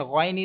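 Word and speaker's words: غ: Next question, next letter is ghain, and ghain is musta'aliya letter, and you will have to pronounce with thicker voice as well as stretch. You will have to stretch equal to 3 seconds, and you can't make echo end of this letter like ghain.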